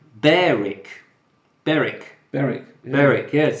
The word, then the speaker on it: Berwick: a baroque oh yeah Berwick in East Sussex is pronounced Berek Berek Berek Berek yes